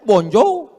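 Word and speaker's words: bonjour: Tulisannya Jour. Bacanya bonjou.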